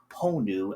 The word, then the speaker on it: honu: And the video itself is quite disturbing honestly as someone that knows and studies like why Hawaiian greeters or ponu as is pronounced in Hawaiian um why they're pretty integral and important here in Hawaii.